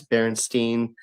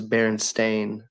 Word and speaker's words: Berenstain: And one for one, I say this really honestly, one for one, everybody says Berenstein, Berenstein. No one ever says Berenstain, ever.